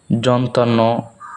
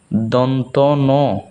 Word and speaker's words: দন্ত ন: এটাকে অনেকেই বলেন যন্তান্ন বা যন্তান্ন, অনেকেই ভুল পড়েন, এটা মূলত হচ্ছে দন্ত ন।